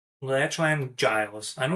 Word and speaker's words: Giles: You got a little, Marcel Garcia, one of the GOATs versus, I always get his name wrong. Lachlan Giles.